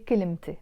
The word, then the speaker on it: كلمتي: We don't pronounce that ت مربوطة. But the moment I add the a, my, كلمتي, I'm not saying كلمة anymore. I have to pronounce the ت مربوطة. I say كلمتي, my word, كلمتي.